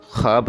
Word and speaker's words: خواب: خواب نہیں ہے بلکہ اس کا صحیح تلفظ خواب ہے۔ خے کے اوپر پیش نہیں بلکہ زبر کے ساتھ پڑھا جائے گا، اور واو اس میں آواز نہیں دے گا بلکہ خے اور الف کو ملا کے پڑھا جائے، اس طرح